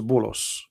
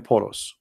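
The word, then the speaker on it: بولس: you will see that this is bullos which is the way of muslims they say and pronounce the name of paul in arabic we call him polos all right and you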